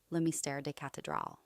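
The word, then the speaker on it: Le Mystère des Cathédrales: 1926 edition of The Mystery of the Cathedrals, pronounced as Le Mystère des Cathedrals.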